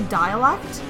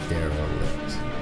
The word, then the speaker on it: derelict: I keep wanting to say dialect. Yep. But it's derelict. Derelict. So it's just Daryl with it.